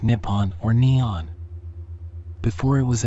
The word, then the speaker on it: Nippon: Japanese is written using the kanji and is pronounced Nippon or Neon before it was adopted in the